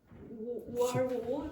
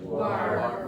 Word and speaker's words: war: How do you pronounce that word? War. War. War. Open your mouth more.